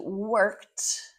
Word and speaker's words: worked: She worked. Not working. Worked with a t sound at the end.